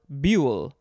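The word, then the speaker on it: boulle: a little bit better because it's a french word uh but that's okay it is bool or buell b-o-u-l-l-e or just b-u-h-l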